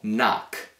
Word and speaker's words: knock: Si pronuncia questa parola così. Know. Know. Poi abbiamo knock.